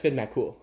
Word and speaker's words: Finn MacCool: It's pronounced Finn MacCool.